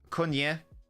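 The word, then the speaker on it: Acuña: Cunha. And the commentator affirming that is how you pronounce it.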